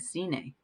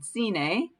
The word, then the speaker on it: cine: And cine, here's a soft C that sounds like an S, right?